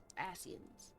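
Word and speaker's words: Ascians: Asens. It is. It's the correct way. Okay. Asens. I pronounce a lot of words uh incorrectly.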